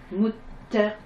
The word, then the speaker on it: للمتقين: Mutaqina. Arrivé à la fin d'une ayat, on ne prononce pas la dernière harakat.